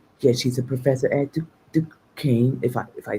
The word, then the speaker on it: Duquesne: it's pronounced Duquesne. Oh, Duquesne. I'm sorry. Yeah, she's a professor at Duquesne, if I say it right.